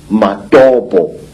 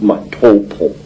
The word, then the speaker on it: Matobo: place called the mountains of the round rocks madobo wrongly pronounced matopo in in zimbabwe these hills are really not